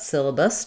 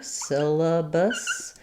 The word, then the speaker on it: syllabus: But in both words, we have first syllable stress with the letter Y saying the I sound. So letter A is going to be unstressed, so it'll be a schwa here, syllabus. And then again, another schwa for this. I would say sometimes even people pronounce that with a little bit higher I vowel, syllabus, bus, syllabus. Mostly what's important there is that vowel is very reduced.